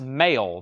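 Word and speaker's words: Mael: including this one Sparks I think their last name is pronounced male the male Brothers Robert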